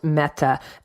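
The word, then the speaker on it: mete: meat which an Old English would have been pronounced and was typically spelled meta m ET e at that time the meaning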